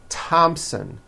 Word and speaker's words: Thompson: Although these next words and names are spelled with a TH, they are pronounced as if they were spelled with a normal T, like that. And these words are Thomas, Thompson, Teresa, Thailand, Thames, like the river, Esther, and thyme, which is a spice.